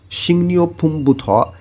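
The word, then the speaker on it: 식료품: সিংনিও ফুমবুথ, এখানে উচ্চারণটা হবে শিক, এর নিচে দেখেন গিয়ক বাচ্ছিম আছে, এরপরেই আবার রিউল আছে। বাচ্ছিমের একটা নিয়ম আছে, গিয়ক বাচ্ছিমের পরে যদি রিউল থাকে তাহলে গ এর উচ্চারণ হবে অনেশ্বরের মতন, আর র এর উচ্চারণ হবে নয়ের মতন। এই কারণে এখানে উচ্চারণ হবে সিংনিও ফুম বুথ, বুথ মানে থেকে।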